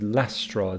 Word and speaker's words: last straw: storms the last straw so I don't say last straw it is last straw this T is not that strongly pronounced so here we have